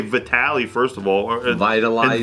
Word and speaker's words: Vitaly: Oh, so it's past tense, vitalized. Yeah. How do you say that shit? He's like, everyone knows it's Vitaly, and I was like, I didn't know that, brother.